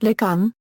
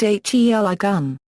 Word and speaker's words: Heligan: The place name, properly pronounced Ligun, and not the commonly heard Heligun, is derived from the Cornish word Heligan, willow tree.